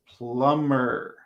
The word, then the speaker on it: plumber: So number 1 is plumber. Good. And the B is silent.